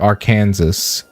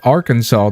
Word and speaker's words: Arkansas: I assume not Little Rock, Arkansas. I'm not calling it Arkansas. If they wanted me to call it Arkansas, they should put a W in it, but it's spelled Arkansas.